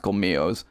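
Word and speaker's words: colmillos: as comios or comilos i'm pretty sure that's pronounced called mios which means fangs guys i saw these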